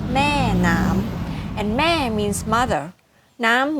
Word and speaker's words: Maenam: In Thai, it's pronounced Maenam, and Ma means mother, Nam means water.